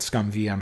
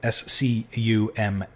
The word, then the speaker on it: SCUMM: But ScumVM has great options for smoothing, and it makes